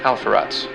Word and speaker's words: Alpheratz: Pisces' brightest star is pronounced Halverge, and Andromeda's brightest star is pronounced Alpheratz.